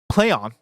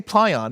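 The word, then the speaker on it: Plaion: be published by pl Play on it's pronounced how it's spelled PlayOn which I always want to say Pon of course p l a i o n uh while the game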